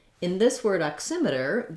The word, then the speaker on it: oximeter: correctly in this word oximeter the x says a k and an s sound and s and the